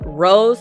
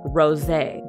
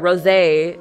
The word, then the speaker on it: Rosé: if you don't know Rose uh you guys told me sorry you guys did tell me that her name is not Rose it's pronounced Rosé very luxurious um when I watched that Rosé it's going to be